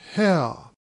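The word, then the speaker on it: Haigha: happy his name is how he pronounced it so as to rhyme with mayor i love my love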